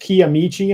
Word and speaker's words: Kiamichi: Tony here has pointed out, it says pronounced Kiamichi. I'm glad.